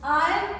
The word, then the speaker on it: iron: It's iron, R is silent, so you are not going to pronounce like iron.